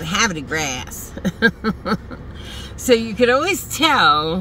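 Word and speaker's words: Havre de Grace: But everybody who was new, like me or my husband, we said Habit of Grace. Because that's how it's spelled. Have a D-E Grace.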